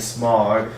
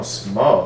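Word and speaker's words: Smough: know Dan famous orange Stan smog uh which no oh small that's how you pronounce that okay um thank you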